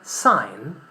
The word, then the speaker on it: sign: And in the word sign, the letter G is not pronounced.